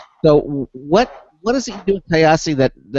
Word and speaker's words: Kyasi: So now the company, it's called Kyasi. Is that I'm pronouncing it correctly? Yeah, Kyasi.